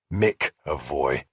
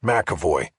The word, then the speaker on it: McEvoy: He had gotten the name right, but had pronounced it wrong. Mavoy. Yes, Makavoy, I said, correcting him.